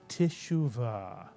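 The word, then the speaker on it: תשובה: H in it and therefore the first syllable is tishu Tish the tough with theah is like a Grace note Tish leading into the first syllable Shu the entire first syllable therefore is tishu and the second syllable mitan put the word together Tisha Tisha and Tisha is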